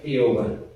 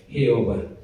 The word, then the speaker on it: Jehová: Entonces cuando nosotros vemos para pronunciar el hebreo del nombre de Dios, suena Jehová, ¿okay? No suena de otra manera, Jehová.